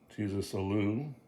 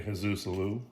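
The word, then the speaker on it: Jesús Alou: Jesus Alou. Actually, Jesus Alou. That's how you pronounce it.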